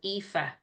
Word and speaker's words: Aoife: someone who worked in the UK, and there was a girl called Aoife in her job. And Aoife is a very common Irish name. It's spelled Aoife.